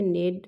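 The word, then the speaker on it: knead: तो ये दोनों वर्ड आप देख रहे हैं कि प्रोनंसिएशन में सेम है नेड और नेड।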